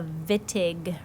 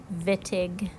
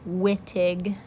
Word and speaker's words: Wittig: we're going to look at is called the vit aghh reaction that is pronounced vit aghh not witig Wittig reaction and here's the generic look at